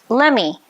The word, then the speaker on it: let me: Notice again how let me is pronounced lemmy in natural speech.